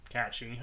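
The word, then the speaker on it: Cait Sith: Stray is actually Kate Sith, or Kachi, I guess is the real pronunciation.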